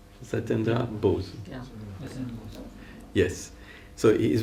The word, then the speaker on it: Satyendra Bose: This idea that I want to expound to you now, because it was invented by an Indian scientist, Satyendra Bose. Is it okay, the pronunciation? Satyendra Bose.